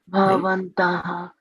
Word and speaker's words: bhavantaḥ: When the A is inside a word and doesn't have a bar on it, it is pronounced softly. Bhavantaḥ.